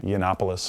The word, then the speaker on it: Yiannopoulos: So you interviewed Milo, how do you pronounce his last name? Yiannopoulos. Yiannopoulos.